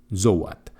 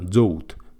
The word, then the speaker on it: Zoat: Como curiosidad, Brian Hansel dijo que su nombre se pronunciaba Joe Joat. Aunque la mayoría de gente lo pronunciaba Jat como cabra en inglés, Goat, pero con Z, aquí los llamamos zoat y tan gusto.